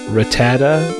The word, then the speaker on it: Rattata: or Isis a ratatata I think it's pronounced Rattata like sir when I was a kid I never pronounced the last day I was gone Ratatat just sounded better that way my look kid mind